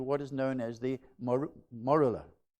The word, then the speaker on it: morula: is known as the morula. I had to get the pronunciation right. Morula. That's how they apparently pronounce it.